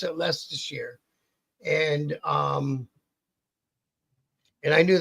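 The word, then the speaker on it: Leicester: spelled all up, but you pronounce it lest.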